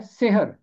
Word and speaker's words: सहर: अगर सीन के नीचे जेर होगा तो इसका मतलब ये है जादू, सेहर, जादू। लेकिन ये है सहर। और कई लड़कियों के नाम भी सहर रखे गए हैं, और ये इब्रानी ज़ुबान में है शखर, तो उर्दू में है सहर।